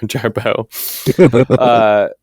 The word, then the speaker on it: Jarboe: Sometimes I go by the drag name Jarboe, which sounds exactly like my name sounds. It's just spelled with a pretentious French spelling, Beaux, Jarboe.